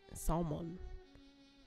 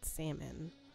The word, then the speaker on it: salmon: It's not salmon. You don't pronounce the. It's salmon, not salmon.